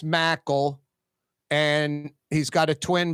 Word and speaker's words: Mackel: to be saying that on the air it's pronounced Mackle and he's got a twin brother and we've